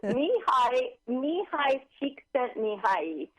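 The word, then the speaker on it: Mihaly Csikszentmihalyi: Can you pronounce his name again for us? Mihai Csikszentmihalyi.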